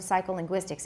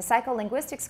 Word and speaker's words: psycholinguistics: It says, you will find that there is no difference between the first and fourth syllables of psycholinguistics in this modified sentence.